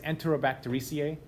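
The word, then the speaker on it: Enterobacteriaceae: So the full family name is Enterobactericiae, kind of like the way it's spelled. Again, it's one of those really long words, but if you read it nice and slow, Enterobactericiae, right? Like it's spelled.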